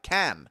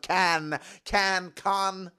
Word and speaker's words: Cannes: sunny Mediterranean beaches of Cannes, France. I'm giving it a more American pronunciation. It is Cannes, of course.